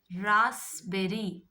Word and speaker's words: raspberry: Then raspberry. Raspberry. Raspberry. In raspberry, P is silent.